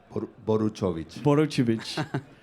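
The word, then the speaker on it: Boruchowitz: How do you pronounce his second name? Boruchovic.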